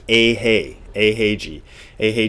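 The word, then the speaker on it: Eiheiji: Dogon so a is whenever you see an e followed by an i it is a the reason this is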